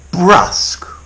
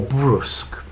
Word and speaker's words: brusque: Brusque or brusque. Both pronunciations are possible.